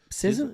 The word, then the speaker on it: SZA: SZA?